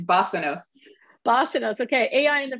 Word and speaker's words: basanos: And she's talking to us today, I won't pronounce it right, the digital basanos? Is that right? Remind myself, it's basanos.